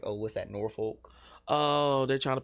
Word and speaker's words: Norfolk: It's Norfolk. Yeah, but no, like people who from above and below, they be like, oh, what's that, Norfolk?